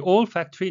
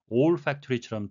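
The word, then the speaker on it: olfactory: the old factory nerves. 후각 신경이란 의미인데요. 잘못 들으시면 old fact토리나 또는 all factory처럼 들릴 수가 있겠습니다.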